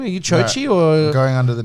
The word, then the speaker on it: Joji: Because my name's spelled Joji, Yeah. but pronounced Chochi.